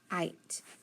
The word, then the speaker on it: kite: I've got an I, which is a vowel. I've got a consonant and an E. So that's I, consonant E. So it's going to be a long I and then a silent E.